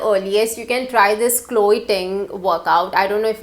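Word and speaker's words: Chloe Ting: weight at the earliest you can try this chloe thing workout i don't know if i'm pronouncing it right but it's c-h-l-o-e-t-i-n-g workout you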